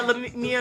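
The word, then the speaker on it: Larrieux: Because the E I always- X is Yeah, it's French. French. Right. But you want to say it like what it says, but that's not how.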